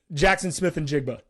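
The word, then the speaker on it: Jaxon Smith-Njigba: boost Smith what's it how do you pronounce his name Jackson Smith and jigba yes yes uh obviously they did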